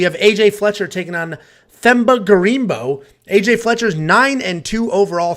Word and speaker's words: Themba: Somebody said the H is silent. No, I think the H is silent. It's Themba. Anyway, Themba.